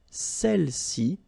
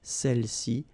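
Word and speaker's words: celles-ci: Feminine plural, celle-ci, okay, don't pronounce the final S, celle-ci, celle-là, all right?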